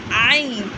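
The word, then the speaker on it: ع: And the common mistake we have to say that don't pronounce it like Hamza. It's like Ain.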